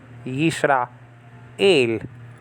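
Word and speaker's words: ישראל: Okay, so just say ra, yis ra, and then you have the word for God, el. Okay? Yisra, el. That is to be pronounced together. Okay?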